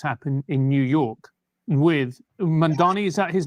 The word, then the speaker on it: Mamdani: in New York with Mamdani. Is that his name? It's very hard to pronounce because in English, there's no word that has an M followed by a D. It's hard for your mouth.